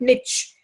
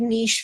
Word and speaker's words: niche: In fact, but a certain of intellectual teachers used to call it niche but again that was the British version or American version and teachers frequently because